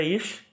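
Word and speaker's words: אִישׁ: E aí o shin, que é essa letra em preto, o SH é a pronúncia ish e o significado é homem.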